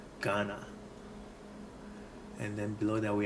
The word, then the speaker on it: Ghana: So as in the name Ghana, we spell it GHA. The GH actually is the ga character, ga. So Ghana.